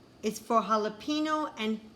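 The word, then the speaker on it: jalapeño: and j is for jalapeno and jicama usually j makes the j sound but in these words the j makes like an h k is for kumquat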